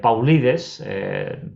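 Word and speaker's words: Paulides: escribió david pogue lights pauli des pronunciado así tal como se escribe que se llama missing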